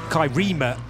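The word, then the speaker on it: Kai Riemer: this porsche driven by kai reimer kyrima in fact to give it the correct pronunciation silver rated now in his early 50s kai but and first ever nurburgring race was 1995.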